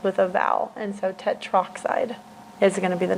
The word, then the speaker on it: tetroxide: That's tetroxide, okay, is how you say that. It's not tetraoxide. You don't have A and then oxide.